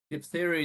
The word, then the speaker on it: diphtheria: Diphtheria is pH as well, I've just noticed. Diphtheria. Been teaching my granddaughter phonics and realized pH is always pronounced ph, diphtheria.